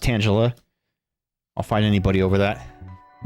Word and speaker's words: Tangela: And yes, it's pronounced Tangela.